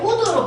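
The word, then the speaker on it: would: 이렇게 뭐뭐 하고 했다라고 해석이 될 때는 얘를 우드로 바꿔도 의미가 통하지요.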